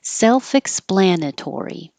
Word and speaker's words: self-explanatory: started with self self-explanatory self is higher and splan is longer like secondary stress self-explanatory proprietary you can say